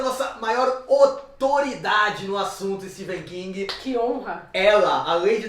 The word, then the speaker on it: Stephen: E aproveitando o aniversariante, faremos um episódio especial sobre Stephen King. Pra desmistificar isso, que você sua vida inteira falou o nome dele errado. Não é Stephen King, é Stephen King, apesar de se escrever com PH.